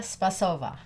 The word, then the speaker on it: Spasova: Intimacy, Sex, and Relationships, an interview with Spasova. Yes, Spasova. Spasova. Spasova. Yes, Spasova. that's right. Sorry. She puts the Yes, emphasis on the first. Emphasis on the first syllable.